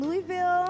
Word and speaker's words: Louisville: You got to say it right. Louisville. I was saying Louis, thinking of Louis Vuitton, but that's okay.